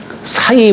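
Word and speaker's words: 食: 보면 그런 얘기가 있어요 사이 불라면 이게 먹을 식자를 갖다가 누굴 매긴다 할 때는 사라고 읽어요 매긴다 할 때는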